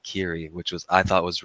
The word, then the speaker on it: Keighery: Real G's moveing silence he switched it from like lasagna to like Kiri which was I thought